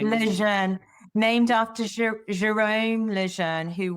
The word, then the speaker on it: Lejeune: Because it um and I've been saying it wrong for years, so it's lean. I'd be thinking Leanne named after Jerome Leanne